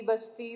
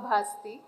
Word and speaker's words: ಭಾಸ್ತಿ: ಬಗ್ಗೆ ಹಲವು ಚರ್ಚೆಗಳನ್ನ ಕೇಳಿದ್ದೇನೆ ನನ್ನ ಸರ್ನೇಮ್ ಅನ್ನು ಭಾಸ್ತಿ ಬಸ್ತಿ ಬಸದಿ ಬಸಂತಿ ಅಂತ ಏನೇನು ಬೇರೆ ಬೇರೆ ಸ್ಪೆಲ್ಲಿಂಗ್ಗಳಲ್ಲಿ ಯದ್ವಾತದ್ವ ಉಚ್ಚಾರಣೆಗಳಲ್ಲಿ ಹರಡಿವೆ ನಾನು ದೀಪ ಭಾಸ್ತಿ ಮೂಲ ಊರು ಸಾಮಾಜಿಕ ಸಾಂಸ್ಕೃತಿಕ